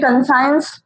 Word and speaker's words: conscience: This ये conscience pronounce नहीं होता है, इसका pronunciation correct pronunciation है consciousness.